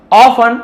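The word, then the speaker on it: often: वही आपके लिए हो ऑफन अक्सर टी को नहीं पढ़ेंगे इन्वेस यू नेवर एक्सपेक्टेड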